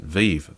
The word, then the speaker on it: Vive: It was the HTC, I've forgotten how to pronounce it, Vive, yeah.